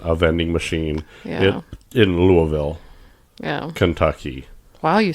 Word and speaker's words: Louisville: in Louisville, Yeah.